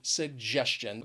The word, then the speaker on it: suggestion: to the word suggestion it has three syllables and the stress is on that second syllable but you probably already knew that because before i told you that when the word ends with tion that shun the syllable before is going to be stressed so suggestion but the one thing